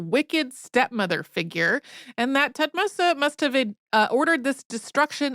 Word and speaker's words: Thutmose: Hatshepsut's death, her successor, Thutmose III, whose name we have also heard pronounced just Thutmose, had her name removed